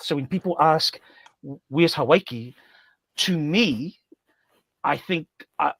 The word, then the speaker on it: Hawaii: And then up north, what we call Hawaii, properly pronounced, havi.